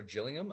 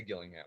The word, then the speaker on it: Gillingham: People from the UK often say Gillingham. Apparently, they say it with a J over there. But Oh, where my family's from in Newfoundland, they say Gillingham. Whether that's the right way to say it or not, that's how we say it in Newfoundland.